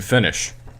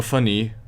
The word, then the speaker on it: finis: as finit because remember, most of the time in French you do not pronounce the last consonant if there is a consonant on the end of the word.